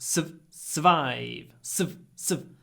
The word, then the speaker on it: survive: To survive, okay, it's written S-U-R, but we don't say the R, just survive.